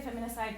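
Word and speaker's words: feminicide: femicide or feminist side I say feminine side because the sociologist in Mexico prefer the extra syllable in there because they look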